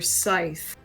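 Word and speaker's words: Sithe: siners also I think her name is pronounced Dr Scythe yeah like a scythe you know yeah I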